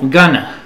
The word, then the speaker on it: going to: la a la nor lo vas a escuchar como gana gana gana repite gana Going To gana observación aunque se pronuncie gana en en inglés escrito no es bueno poner gana to Tú deja que las personas digan G pero escribe Going To Okay se pronuncia gana frecuentemente el negativo Not Going